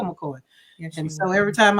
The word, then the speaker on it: McKoy: It's like, yeah, my name is spelled McKoy, not McCoy. So I'm the real McCoy.